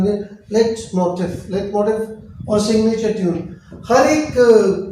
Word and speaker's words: Leitmotiv: Leitmotiv. Now let pronunciation again. Leitmotiv or signature tune.